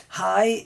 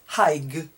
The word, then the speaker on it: high: Another GH which is not pronounced is high. So we walked up a very high mountain. Our skyscraper is very high. High is GH, but it's not pronounced.